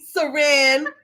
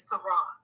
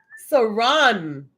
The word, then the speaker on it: Saron: had people over here calling the lady Saran that is two African ladies who have told me the proper pronunciation of my name is Saron siron yes yes you know